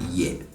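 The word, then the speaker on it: yɛ: The tone on this is on the lower side. Ye. Ye. And it is important you get this because this is what will differentiate between this ye and the ye in the previous phrase.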